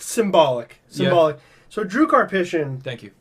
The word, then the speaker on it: Karpyshyn: So Drew Karpyshyn... Thank you. I used to call him Karpshin, but then I noticed there's 2 Ys.